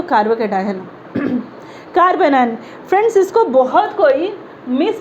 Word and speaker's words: carbanion: इट्स नॉट कार्बो एनायन, इट्स कार्बोनायन, CARBANION, कार्बोनायन। Spelling mistake होगा चलेगा, pronunciation mistake नहीं होना चाहिए।